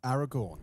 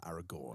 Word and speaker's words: Aragorn: Aragon, right? Aragon, right? Rhymes with corn. corn Aragorn.